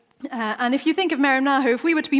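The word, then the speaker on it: μεριμνάω: You pronounce it mεριμνάω.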